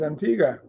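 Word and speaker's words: Antigua: an baruda yeah Antiga we used to say Antiga you told me it's Antiga it's Antiga it's my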